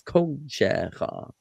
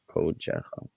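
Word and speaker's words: קָדְשְׁךָ: But if you're using the construct form of kodesh, and it's kodeshecha, okay. And I think you corrected yourself there, kodeshecha.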